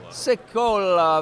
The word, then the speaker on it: Sicola: Am I saying it right, as Sicola? Sicola, of course.